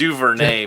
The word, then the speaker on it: DuVernay: It's DuVernay, by the way. You got to pronounce that right.